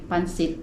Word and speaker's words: pancit: Yes, you like pancit. When we were in Minsaya, we ate in GL Buko House. We ordered a pancit, which also PJ liked it.